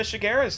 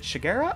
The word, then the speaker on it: Shigeru: it's on to uh shigeru's turn um wait hang on is it shigera or sherega have i been saying it wrong this entire time your character dude just it's shigeru okay shigeru okay